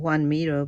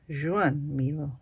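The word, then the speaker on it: Joan Miró: And the artist that I was thinking about, I was pronouncing his name Juan Miro, but actually it's Joan. So you do say the J.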